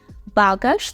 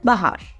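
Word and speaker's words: bagaż: - це баграш багаж Зверніть увагу на наголос у цьому слові багаж це багаж може Бич багаж реєструвати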